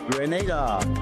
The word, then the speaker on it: Grenada: But, I heard in English it's called Grenada. Say it right. Grenada. Say it right. Grenada. That's right. Grenada. There we go. Say "rice". It's Grenada. It's not Grenada. It's Grenada. Say "rice".